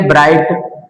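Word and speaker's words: bright: लेकिन इस GS silent है। उसने इस आई को आई में चेंज कर दिया। जैसे इसको हम बोलेंगे ब्राइट।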